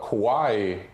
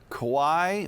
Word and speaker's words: kowai: Kowai means maybe intimidated or fearful. Kawaii is cute or adorable. Wow, that Exactly. is, and it's spelled the same? So kowai, I believe, is like K-O-W-A-I, and then I believe kawaii is K-A-W-A-I-I.